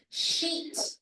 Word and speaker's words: sheet: It's sheet. It's a sheet of paper. Not short I vowel sound. It's a long E vowel sound.